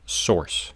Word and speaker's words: SRC: void element that requires an SRC attribute usually pronounced source and it is used